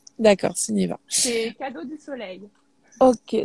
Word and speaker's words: Sunniva: Ça se prononce comment? Oui, Oui, c'est Suniva. d'accord, Suniva.